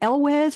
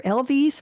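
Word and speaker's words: Elwes: Is it Elwez or Elvis? What is it? The first one.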